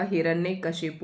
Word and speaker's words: हिरण्यकश्यपु: हिरण्य कश्यपु हिरण्य कश्यपु होता है। हिरण्यकश्यप कई लोग बोलते हैं कश्यप नहीं होता। हिरण्यकश्यपु होता है।